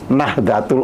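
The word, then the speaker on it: Nahdlatul: Makanya dulu Nahdatul Ulama itu ditulis Nahdlo. Oh, Nahd gitu ya. Iya. Jadi seperti itu ya meskipun tulisannya di L tapi orang harus membacanya ya Nahdatul Ulama.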